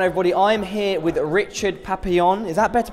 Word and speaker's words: Papillon: I'm here with Richard Papillon. Is that better pronunciation this time?